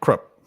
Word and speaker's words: Krupp: Oh, it says Krupp down there, or is that how it's pronounced? Krupp. Yeah, Krupp. Yep.